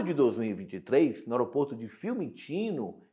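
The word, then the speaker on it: Fiumicino: Em julho de 2023, no aeroporto de Filmino, como a gente pronuncia aqui na Itália, em Roma, aconteceu uma discussão entre a família do ministro e a família do empresário Roberto.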